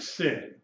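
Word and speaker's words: שׂין: sound she sh okay if the dots on the left you pronounce it with just the s sound like sin on the left sin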